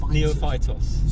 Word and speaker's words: Neophytos: Neophytus. Ios Neophytos.